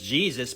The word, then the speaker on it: Jesus: The English transliteration of that Greek word is Jesus because they were pronouncing that I with a J sound.